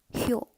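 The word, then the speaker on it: 효: And in Korean Confucianism, the character Xiao, pronounced Hyo.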